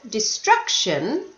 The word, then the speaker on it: destruction: destruction history loneliness destruction did you hear destruction the stress was on the second syllable now this was on